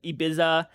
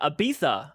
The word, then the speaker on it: Ibiza: you that's awesome uh search up images of ibiza and spain and we are pronounced but it's uh ibiza okay it's ibiza okay okay that's interesting no i've again i've